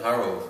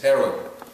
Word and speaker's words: Herod: The third one, how do you pronounce his last name? It's not Harold, it's Herod.